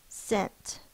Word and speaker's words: scent: first sound is s this one does have the silent c in the S part e n scent this is a closed